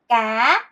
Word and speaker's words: cá: 물고기는 "cá, cá." 입니다 . 나 를 " 코 , 코 " 라고 불러야 해 요 . C 와 K 는 발음 이 같습니다 .